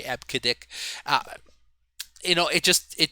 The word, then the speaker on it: EBCDIC: a silly name okay it actually is pronounced that way ebcdic you know it just